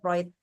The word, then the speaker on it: Freud: For example, my experience, I ever analyzed in psychoanalysis based on Sigmund Freud, tulisannya Sigmund Freud, but the pronunciation Freud, yeah, Sigmund Freud, yeah.